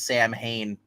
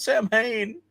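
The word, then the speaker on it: Samhain: That's why that's why people get mad when he pronounces Sam Hain. They're like, it's not Sam Hain.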